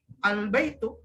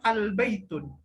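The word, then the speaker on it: البيتُ: ya nilai k-pop jadi harus dibaca albaitu tidak boleh dibaca al-baitul ya albaitu Jadi kesimpulannya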